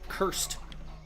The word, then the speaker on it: cursed: Y la razón por qué no se pronuncia la D es porque la S no es un sonido sonoro. Sonoro es como Z, D, G, en vez de T, S, K. Así que la S no es sonoro, así que la D se pronuncia como la D.